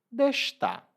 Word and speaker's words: deixa estar: E nesse caso, às vezes a gente pronuncia destar. Em vez de deixa estar, a gente diz destar.